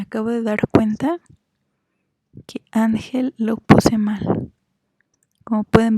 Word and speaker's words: ángel: mal como pueden ver ángel es grave porque la sílaba tónica es a mí entonces él sería la última and sería la penúltima y termina en una consonante que no es ni enemy ese entonces es una palabra grave ustedes vamos a continuar